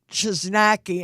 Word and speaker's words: Chojnacki: on his first okay his name is Jacob just Nike and I'm gonna spell it it's ch Oh J and a see